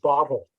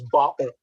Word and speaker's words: bottle: know mispronunciation and the the prime example is the word bottle which many people would pronounce bottle yes and they swallow the tea yes so that swallowing